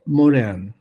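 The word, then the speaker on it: Morin: le tengo mucho respeto uno se llama Edgar moren Morín se escribe es un señor que tiene ahora 104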